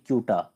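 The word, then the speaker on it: Ceuta: जो ऊपर में शहर है इसका नाम है कूटा सी यूटी ए कूटा कूटा शहर और कूटा शहर आता है स्पेन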